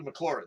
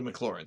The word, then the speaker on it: Maclaurin: his nameless smile although I did a Maclaurin series you know you say it like that so let's everybody say it together I did a Maclaurin series we do the